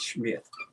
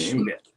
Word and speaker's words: Schmidt: her last name was the way they he pronounced it was Schmidt. You know it's not the S mi th I think it's the S ci. Okay. Schmidt.